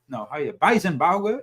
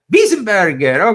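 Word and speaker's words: Weisenburger: That was, do you pronounce it like that? No. Weisenbauer? Burger? Wiesenberger.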